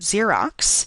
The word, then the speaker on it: Xerox: Uh, for example, the last X in the word Xerox really represents a sequence of two sounds C and S.